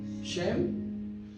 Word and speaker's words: Shem: Aquí le pongo los nombres cómo se pronuncian en hebreo. Shem, Ham y Yafet.